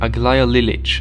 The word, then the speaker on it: Aglaya Lilich: The ruthless individual is the Inquisitor Aglaya Lilich. That's how it's in Russian, that's how I'm pronouncing it.